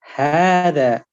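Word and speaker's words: هذا: So the pronunciation of this word is actually Hada. So you pronounce it as Hada with this alif that you see in front of you.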